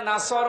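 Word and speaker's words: نصر: এখানে সোয়াদ আছে, নাসর মানে সাহায্য, আর নুন সিন র নাসর মানে ঈগল পাখি।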